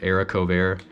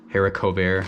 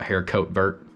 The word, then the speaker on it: haricot vert: is Eric over you can see there it's pronounced Eric ovair haricot vert very French now see it on a menu shear redneck you know like I'm half redneck you'll probably call it hair coat Burt I got my risotto here that's just leftover